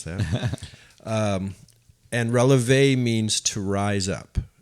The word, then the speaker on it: relevé: And I had to call her and ask her how to pronounce that. And relevé means to rise up.